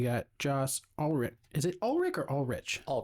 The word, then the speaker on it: Ulrich: Is it or all rich? All rich. Technically in German it's ulic.